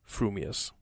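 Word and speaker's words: frumious: your mouth and speak if your thoughts incline ever so little towards fuming you will say fewing furious if they turn by even a hair's breath towards furious you will say furious fuming but if you have the rarest of gifts a perfectly balanced mind you will say frumius supposing that when pistol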